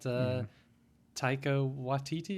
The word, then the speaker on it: Taika Waititi: What about Taika Waititi? Is that how you pronounce his name?